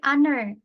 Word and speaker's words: honor: Nah, ini kan konsonan H gitu, tapi bacanya hanya kan silent ya. Jadi bukan honor tapi honor, ya kan?